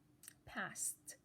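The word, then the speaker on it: passed: will underline it again what's the last sound s sound can everybody say pass feel your throat pass is it moving or not it's not moving so what are we going to do change ed to again it is a regular verb so if you change edie if you change it to edi if you add idi make it into a password it sounds past okay now you're getting it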